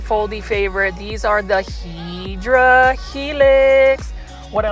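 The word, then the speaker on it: Hedera helix: favorite these are the hedra Helix what I like about the hedra helix or the hadera Helix which is the correct way to say for English ivy it is just a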